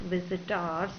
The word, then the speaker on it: visitors: a way, that means the visitors word should be pronounced like visitors, that it rhymes with bars.